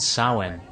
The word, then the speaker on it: Samhain: 31st it was called samhain yeah i know it's spelled differently than how it's pronounced when did you become